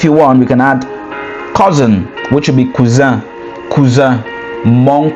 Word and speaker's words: cousin: And then the next one will be, if you want, we can add cousin, which will be cousin, mon cousin, ma cousine, mon cousin. So cousin is cousin, similar spelling, different pronunciation, right?